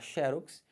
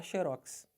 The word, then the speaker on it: xerox: prosóide Você pode falar xerox Mas se você quiser você pode falar xerox Os dois estão corretos xerox ou xerox né